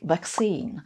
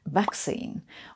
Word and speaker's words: vaccine: Or they have a somewhat different emphasis, like vaccine, which in American English has the emphasis on the second syllable, whereas in British English it's vaccine, with the emphasis on the first syllable.